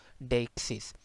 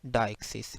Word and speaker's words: deixis: तो इसमें एक दरअसल डिफ्थोंग आ जाता है, डेक्सिस। इसी तरह आप इसे ये इस तरह भी पढ़ सकते हैं, डायक्सिस। ठीक है, ब्रिटिश और अमेरिकन में दोनों प्रोनाउंसिएशन मौजूद हैं।